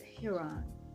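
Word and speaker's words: ἱερόν: the temple enclosure uh pronounced I think Huron and not in the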